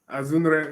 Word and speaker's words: Azunre: Azunre, yeah, there's an N there.